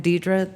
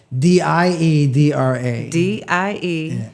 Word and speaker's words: Diedra: Well, I'm on Instagram, Diedra the Realtor. Diedra. Diedra. The, not the with, D-A. It's spelled properly.